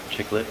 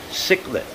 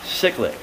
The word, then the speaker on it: cichlid: take a look at the chiclet guard no cichlid aha cyclic i think i said it right that time people but awesome and